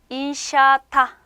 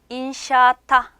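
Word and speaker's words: inşaatta: 인샤타. 인샤타. 자, 여기 아가 두 개 있잖아요. 요건 그냥 길게 조금 발음해 주신다고 생각하시면 돼요. 인샤타 렇게 발음해 주시면 돼요.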